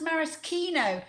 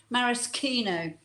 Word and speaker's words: maraschino: Oh yes, it's actually pronounced maraschino. Lots of people mispronounce it, but it's actually a marasca cherry. It's a morello cherry grown in Marasca, which is in Croatia. So it is actually pronounced maraschino.